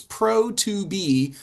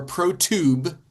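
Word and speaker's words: Pro2be: pro blend cuz yeah they spell it with a number in the middle of the word so it's Pro Tob or prot tube as I think they actually would like everyone to pronounce it and it's an incredible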